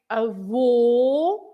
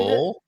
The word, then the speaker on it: avô: pronunciation of the letter, but you have to stress at the end. So you say a vo, and Avô.